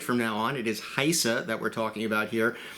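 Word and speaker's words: HISA: uh first of all it is pronounced not hissa but haisa it is a long eye so we all want to make sure that we get it right from now on it is haisa that we're talking about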